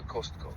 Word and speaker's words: Costco: звуку а після с тому варіант кастко неправильний х цікаво А чому тоді більшість каже кастко швидше за все це через те що в українській мові часто вставляють звук а між приголосними Для зручності вимови Деяким людям легше сказати кастко Бо так звучить природніше для розмо мовної мови але в англійській правильна вимова Костко Костко без додаткового а отак Я взагалі спочатку